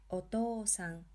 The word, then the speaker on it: お父さん: お父さん. Here we are extending the to syllable.